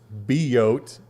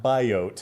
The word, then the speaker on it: symbiote: spider-man number 800 where Jay jonah Jameson says be oat not by oat yeah yeah so how